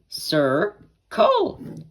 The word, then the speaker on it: circle: And to say circle, you just say sir, and then col after it. Sir, col.